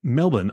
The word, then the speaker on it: Melbourne: who was born in melbin Australia and still calls Melvin her home I'm laughing because we discussed how Melbourne is pronounced because I was going to say Melbourne anyway as we chat